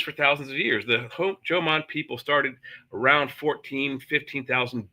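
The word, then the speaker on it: Jōmon: the the ancient Homman Jan people and they it's pronounced Joman J- O M O N just like the Jojo channel we have here kind of is an ancient race of Japanese and uh Korean um prehistoric peoples.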